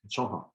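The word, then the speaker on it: 中华: And it's pronounced Chonghua, which is a sound that seemed to the original Europeans who traveled to China, it sounded to them like China or China, and that's why we call the country China.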